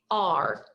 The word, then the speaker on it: are: because it's completely tricky the only spelling pronounced as you would expect is the r not the beginning of